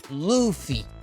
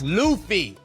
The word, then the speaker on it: Luffy: to pronounce it correctly it's Luffy luy ly it's Luffy not Luffy Luffy Luffy Luffy Luffy